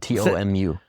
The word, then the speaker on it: TOMU: it to tumu or is it do you spell it out? T O M U.